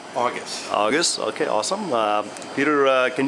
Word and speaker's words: Augis: Augis.